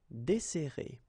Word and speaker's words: desserrer: and we'll get this desserrer, desserrer. Okay, so we've got this double S, so it will open the sound of the here. That's the reason why I pronounce it like E.